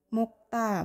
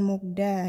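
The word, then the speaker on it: 먹다: Yang benar bukan mokta eh sebenarnya itu memang Bacanya adalah mokta kenapa Karena di sini ada bachim giok yang dia itu ketemu sama konsonan Diget jadi dia di sini digetnya berubah menjadi sang Diget sehingga dia dibaca menjadi mukta bukan mukda ya ini adalah aturan baciim namanya jadi dia kena aturan baciim makanya dia dibacanya Bukan mukda tapi mukta yang benar ya Terus misalkan ini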